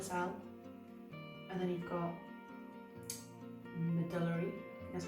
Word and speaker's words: medullary: You've got Hürthle cell, and then you've got medullary, that's how you say it, medullary, and then anaplastic.